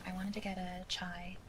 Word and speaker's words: chai: And she was like, "It's pronounced Kai, actually." And I was like, "What? Really? I've been saying chai my whole life. I'm pretty sure it's chai." And then I pulled up my phone, typed into Google, how to pronounce chai. It It showed chai. I showed it to her. I was like, "Oh, look. No se it says chai."